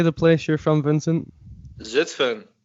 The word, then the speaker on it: Zutphen: Zutphen. Zutphen.